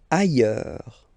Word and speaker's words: ailleurs: Ailleurs. Look, final S not pronounced, and then you've got this y sound.